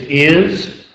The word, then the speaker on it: is: We need that Z sound at the end. It's not. It is is.